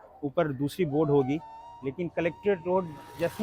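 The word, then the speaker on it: Collectorate: जाएगा और हमेशा याद रखिएगा कि यहां पे कभी भी कलेक्टरेट नहीं बोला गया कलेक्ट्री कलेक्ट कलेक्टोरेट और यहां स्पेलिंग मुझे लगता है कभी भी हमने सही स्पेलिंग नहीं देखा जो पटना में जो सही स्पेलिंग है वो होना चाहिए सी O double L ई सी टी ओ आर ए टी कलेक्टरेट च मींस द प्लेस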